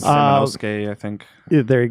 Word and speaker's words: Samanosuke: You're looking at Samsonoke. I probably pronounced his name wrong. No, that sounds Samanosuke, I think.